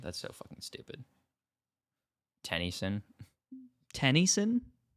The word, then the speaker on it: Tennyson: Tennyson. Tennyson? It's spelled like Gwen Tennyson, but it's like Tenny son.